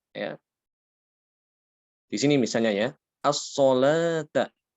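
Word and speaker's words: الصلاة: Di sini misalnya ya, as-solata. As-solata, di sini tulisannya adalah wawu ya. Kenapa kok tidak ditulis alif?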